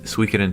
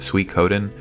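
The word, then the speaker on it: Suikoden: What I really want to highlight here is Switen 2. I think it's actually pronounced Sweet Coden.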